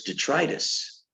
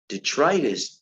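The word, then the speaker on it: detritus: everyone knows that okay and another word is detrius detrus De t r i t s DET tritis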